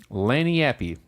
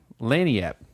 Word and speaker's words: Lagniappe: They named it Lagniappe. Lagniappe. Oh, it even shows how it's pronounced here.